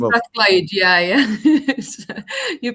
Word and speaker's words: Strathclyde: Strathclyde, yeah. You pronounced it right.